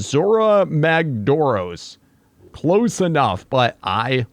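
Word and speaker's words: Zorah Magdaros: It is pretty fitting, and apparently this is a name of an elder dragon from Monster Hunter, and I believe it's pronounced Zora Magdoros.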